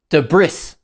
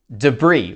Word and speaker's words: debris: Many people wrongly pronounce the s at the end and they say de brris. The correct pronunciation is debris with a silent s.